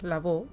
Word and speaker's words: Laveau: Bueno, pues hasta aquí hemos hablado de de de Maril o cómo se pronuncia, porque claro, el apellido francés. Bueno, sí, la vo, ¿no? La vo, la vo.